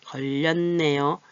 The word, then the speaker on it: 걸렸네요: 그런데 또 이렇게 자음과 자음이 이렇게 만났는데 걸렸네요.